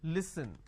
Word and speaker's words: listen: Now the listen word pronounced as l, e, s, li. So let me add a dash after that so that it's easier for you to understand. Okay, it's pronounced at li, s, n. Listen.